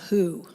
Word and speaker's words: Whooo: We'd like to do a song for you now that's called Whooo. And I like to spell that W-H-O-O-O-O-O, like who.